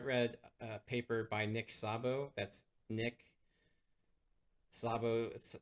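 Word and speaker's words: Szabo: a paper by Nick Sabo that's Nick slabo Sabo is spelled s-z-a-b-o um he wrote a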